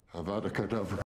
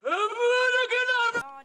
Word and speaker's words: Avada Kedavra: Besides, you're saying it wrong. It's Avada Kedavra. Not Avada Kedavra.